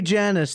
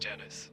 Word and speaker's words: Janice: Hey Janice, do you prefer toasters or alarm clocks? No, it's actually pronounced Janice, not Janice, but thank you for asking.